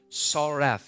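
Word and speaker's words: tsaraph: you look at is the word it is pronounced RF saref it is TSA are a pH SAR F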